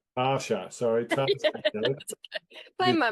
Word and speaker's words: Taasha: I am speaking, it's Dave here from Amplify, and I'm speaking to the unbelievable Tasha Coates, not normal Tasha, it's T-double-A. So it's Tasha. Tarsha, sorry, Tasha Coates.